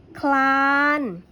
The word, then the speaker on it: คลาน: พร้อม กัน เหมือน เดิม คลาน ออก เสียง คอ รอ พร้อม กัน เพลง ออก เสียง พรบ